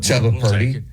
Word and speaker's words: Chubba: is named chubba okay not close but chba rhymes with Bubba chubba but you know